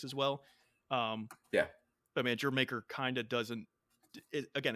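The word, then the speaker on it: D'yer Mak'er: So, you said Jamaica Yeah, is the Jamaica, pronunciation? Jamaica.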